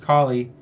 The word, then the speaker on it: Kali: remember what you said Callie yeah Ali yeah Kali usually I usually hear it pronounced Kali and let's see a